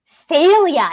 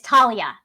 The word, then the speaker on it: Thalia: and he continually mispronounces Thalia. It is Talia. Oh, Rick Riordan has said it's Talia with the hard T.